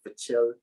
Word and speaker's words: Pichel: Pachel.